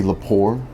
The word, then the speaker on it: Lepore: Is there a T in that? No T. It's not French. It's Italian.